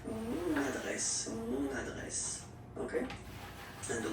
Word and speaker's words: mon adresse: Okay, you can hear now this little link, so you get to pronounce this end. Mon adresse.